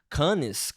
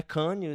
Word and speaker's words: Cannes: A pauta de hoje é justamente uma matéria que saiu no Cannes, como se faz isso aí?